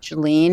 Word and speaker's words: Jaelline: So first of all, my name is pronounced Jaelline.